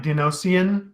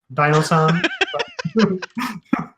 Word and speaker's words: Dinosan: I was pronouncing it like Dinosian, like instead of Dinosan.